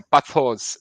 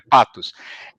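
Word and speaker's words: πάθος: Se pronuncia assim, ó, patos, isso aqui frescura, é patos.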